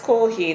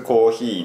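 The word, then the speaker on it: コーヒー: ほぼ、スターバックスコーヒーのグランチ、あー、See, this is actually why I don't go to Starbucks in Japan.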